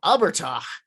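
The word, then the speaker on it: abhartach: So Abertach, pronounced Abertach, Irish for dwarf, is an early Irish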